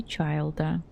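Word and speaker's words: Чайльд: Тоня, младшая сестра Тартальи, Чайлда. Чайлда. С мягким знаком. Почему-то сложно произносится.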